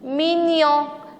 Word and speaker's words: mignon: attention ici il est mignon o n se prononce en g n y est les deux mignon mignon ici ils baignoire au xx e porno